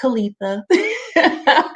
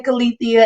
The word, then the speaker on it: Kaleitha: i spell my name it's pronounced kalitha a lot of people like to say kalithia and i get it